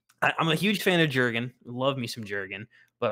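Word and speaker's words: Jürgen: correct and say that it's jurgen klopp the j is pronounced like a y um but uh you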